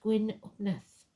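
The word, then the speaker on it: Gwyn ap Nudd: He may be known as Janus, Herne the hunter, the horned god, master of the hunt, or even Gwyn Upnud, pronounced Gwyn Upneth, king of the fairies.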